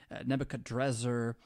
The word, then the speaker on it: Nebuchadrezzar: You could pronounce it different ways, too. Nebuchadrakara and Nebuchadrezzar. But it's composed of the